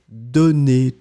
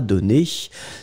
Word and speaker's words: donné: In fact, you pronounce them exactly the same way.